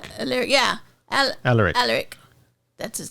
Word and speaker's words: Alaric: Alaric.